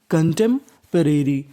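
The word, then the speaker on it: contemporary: पी ओ, यहाँ पे पी ओ में हमें खाली पी का उच्चारण करना है, ओ का उच्चारण नहीं करना, ओ हमारा साइलेंट रहेगा।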